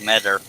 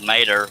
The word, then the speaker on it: Meter: but just out of respect for him, it's pronounced Metter. I used to think it was Mater, but it's Metter.